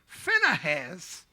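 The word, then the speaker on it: Phinehas: that was in succession CZ finaz that's how you pronounce his name finaz is the grandson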